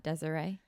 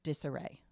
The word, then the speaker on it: disarray: still need a mattress oh disarray not desaray no disarray how do you say Niche